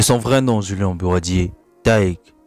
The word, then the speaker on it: Tayc: De son vrai nom Julien Bouradier, Taïk, qu'il faut prononcer Taïki, né le 2 mai